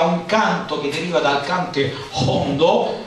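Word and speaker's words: cante jondo: Ecco, e legate proprio alla Settimana Santa e a un canto che deriva dal cante hondo, si pronuncia così con la iota aspirata, che significa profondo, un canto che deriva dal secolo XVIII, la Saeta.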